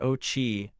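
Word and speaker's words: Ouchi: William Auchai, pronounced Ochi, a management scholar at the University of California, Los Angeles, has proposed a theory that combines U.S.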